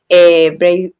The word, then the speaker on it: Braveheart: si se pronuncia bien, Braveheart, Braveheart. sí, Braveheart.